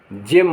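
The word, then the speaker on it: gem: एस T gist माने सार जी ई एम जेम माने कीमती पत्थर शेष स्थलों पर बहुधा ग का उच्चारण होता है जैसे बी आई जी बिग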